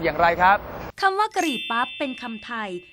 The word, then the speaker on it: กะหรี่ปั๊บ: อังกฤษ ว่า curry pu ปัจจุบัน บาง คน ออก เสียง พยางค์ แรก คือ กะ ผิด เป็น อักษร ควบ กล้ำ ว่า กระ บ้าง ก็ เขียน พยางค์ สุด ท้าย เป็น พั ตาม การ ออก เสียง ใน ภาษา อังกฤษ แต่ ใช้ รูป วรรณยุก ผิด อักข วิธี ไทย คำ นี้ ใน พจนานุกรม